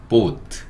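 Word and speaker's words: boat: 그래서 어 한국 사람들은 보트라고 하지만 어 발음할 때는 약간 우소리 달아서 보트 보트 이렇게 해 줘야 맞는 거고요.요 보트란 단어도 원래는 영어였다 이렇게 보시면 될 거 같아요.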